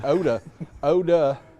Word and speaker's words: Eau de: And Oda, and that's spelled E-A-U space D-E, Oda.